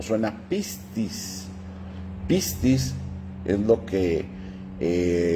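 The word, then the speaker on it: πίστις: Entonces, para empezar, la palabra fe es una palabra griega que que se escribe o suena pistis.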